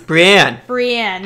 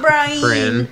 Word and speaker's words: Brienne: Brienne. Not Brian.